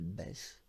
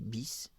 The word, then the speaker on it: Bess: Elle porte un nom assez simple, elle s'appelle Bess Houdini, dans certains pays Bis, puisque le E se prononce B dans certains pays. Bis Houdini, Bess Houdini.